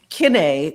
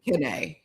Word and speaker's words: Kiné: It's Ken, but I mean black people say Ken. They're like, "Okay, you K." I'm like, "No, I'm Ken." It's still accented. You know the Ki. The I is pronounced E in French.